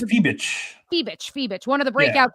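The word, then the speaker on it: Fiebich: Natasha Cloud and Leonie It's Feebach. I always mispronounce it. I think it's Feebich.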